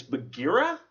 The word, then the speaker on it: Bagheera: Now, I kept pronouncing the Panther's name wrong. It's Bagheera?